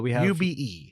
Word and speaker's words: ube: Ube. Yeah. We have a tube without the T.